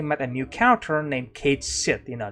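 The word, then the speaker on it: Cait Sith: Kate sit you know that's how you pronounce the name Kate sh apparently okay um cuz some people said that oh it's going to be cat or something like that you know no no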